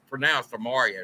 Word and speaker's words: Imarian: And by the way, it is pronounced Imarian. It's not, everybody calls him Imarian. It's Imarian.